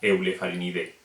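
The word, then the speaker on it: Eublepharidae: O Eulefarinidae sería Eulefarinide.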